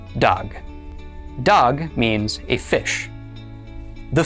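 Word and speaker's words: דג: The dolllet makes the sound duh. Then the comets underneath it makes the sound a. And finally, the gimmel at the end makes the sound g. Altogether this is pronounced dog.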